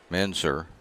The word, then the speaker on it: Mansour: Mansour is the way they're pronouncing it, so we'll go with that.